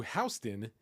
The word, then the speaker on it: Houston: over there at Japantrepreneur, where Dropbox's CEO Drew Houston, yes, I believe that's pronounced correctly, Houston, not Houston, responds to complaints about Dropbox's ultra-slow response to providing native Apple M1 support.